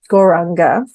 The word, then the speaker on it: Gauranga: So the mantra that we're going to use today, Gauranga, it means the golden one, golden light, golden energy, golden personality. So we're breaking it down into 4 syllables: Gaur, Ra, Ang, Ga.